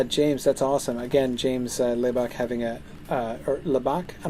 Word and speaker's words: Lebach: Again, James Lebach having a or Lebach? I don't know, where's the stress in your last name? First syllable or second syllable?